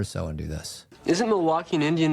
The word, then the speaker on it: Milwaukee: Isn't Milwaukee an Indian name? Yes, Pete, it is. Actually, it's pronounced Milly-wah-kay. Which is Algonquin for the good land.